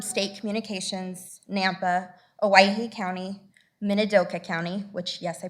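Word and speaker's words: Minidoka: We had people from state communications, Nampa, Hawaii County, Minadoka County, which yes, I pronounced Minadoka right.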